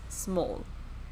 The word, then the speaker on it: Smol: mo L know well I want to say it like small but it's not so I think it's small like it's supposed to be like a cute way to say small I think and this